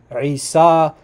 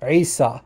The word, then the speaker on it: Isa: Pagan Arabs used to call to a god named, this is the spelling, Ain Sin Ya. And what he's suggesting is that this was probably pronounced Isa or something very close to it.